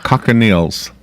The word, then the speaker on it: cochineal: It's cochineal.